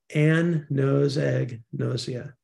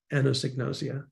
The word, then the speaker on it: anosognosia: profound unawareness of illness if you want to pronounce it this is a little trick I used rather than the phonetic spelling which always confuses me Ann knows egg nausea anosignosia and I would I'd